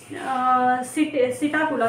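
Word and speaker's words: Psittacula: है अ सॉरी पि सिटा कुला सिटा कुला बोल सकते हैं इसको पीस साइलेंट हो सकता है इसमें ठीक है सिटा कोला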